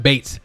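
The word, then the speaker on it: Beetz: Is her name is pronounced Bates. Zazie Bates. Okay. But I'm still calling her Beats.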